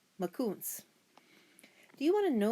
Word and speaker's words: Makoons: You say Makoons like this. Makoons.